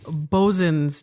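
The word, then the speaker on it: boatswain's: And he pointed out to me that it's spelled boatswains. Right. And he said, never say that. Right. Never say that out loud. He said, It's bosun's chair.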